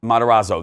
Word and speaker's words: Matarazzo: Bobby Brown and Gaytan Montez I can never pronounce his right I don't know matarazzo that's right yeah thank you yeah but also